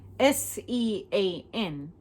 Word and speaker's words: Sean: S-E-A-N, like jeans, but Sean, but Sean, S-E-A-N.